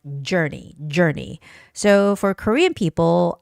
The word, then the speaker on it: journey: And the two last words are artistic, I has the stress, the first I, and journey, journey. You have to be careful when you're making that J, journey sound, because I think both